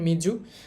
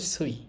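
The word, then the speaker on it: 水: এখন এটার জাপানি উচ্চারণ মিজু। আর চীনা উচ্চারণ হচ্ছে সুই।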